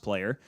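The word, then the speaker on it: PLYR: by player this year p-l-y-r pronounced player so whenever a playoff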